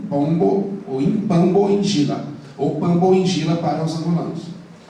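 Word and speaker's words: Pambu Njila: E um orixá, me perdoe, um inquice chama-se Pambo Injila. Se escreve P-A-M-B-U, Injila, N-J-I-L-L. Para os angolanos e para os congoleses é Impambo Injila.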